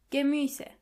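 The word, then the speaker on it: Gemüse: Vegetables in general means gus. Try to practice the pronunciation of this word a couple of times to make sure you are pronouncing the umlot correctly.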